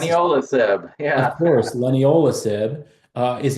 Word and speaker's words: leniolisib: I cannot seem to pronounce it. Leniolisib, yeah.